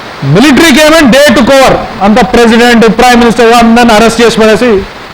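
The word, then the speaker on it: coup: मि आमी ए मिलिट्री केम president prime minister मि ट स इ अ military overtaking government military taking over the Reece of government we call its क कुन प साइलेंट सो यू से कु मिलिट्री कु और आर्मी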